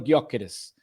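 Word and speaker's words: Gyökeres: E muitas vezes, ah, é guiókeres, é gióqueres, é gioqueres. E ele quando fala o nome dele, ele não pronuncia o G. Dá para ver que ele ele fala Víctor Guokeres na sua apresentação.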